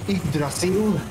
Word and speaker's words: Yggdrasil: It depends very much which part of the Scandinavian countries or Iceland you're referring to here. This we say Yggdrasil.